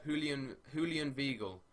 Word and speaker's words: Julian Weigl: Julian Weigl is how it's pronounced.